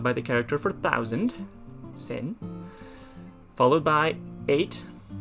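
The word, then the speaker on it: 千: thousand that's how you write it and it's pronounced as sen by itself but the number one thousand is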